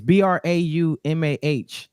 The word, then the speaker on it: Braumuh: So it's different because it's Braumah. It's like trauma, but with a B and the H at the end.